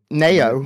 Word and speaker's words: Naowh: Nayo. Nayo? Nayo? Nayo. N A Y O. Yeah, that's how we pronounce it.